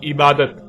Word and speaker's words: عبادت: عربی کا لفظ عبادہ جب اردو میں شامل ہوا تو اسے عربی کی بجائے اردو لہجے میں تے کے ساتھ بولا گیا اور بولا جاتا ہے، یعنی عبادت.